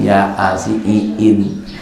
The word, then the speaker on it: Yasin: Karena dia maco Latinnya kan ya dengan A-nya 2. Ya kan? Kemudian I-nya lebih kan? Dibacanya ya asiin. Maco Yasin pakai bahasa Latin ya asiin.